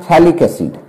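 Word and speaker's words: phthalic acid: इसका फेमस नाम है थैलिक एसिड। पीएच साइलेंट याद रखिएगा, इसलिए इसको नाम पर है क्या? थैलिक एसिड।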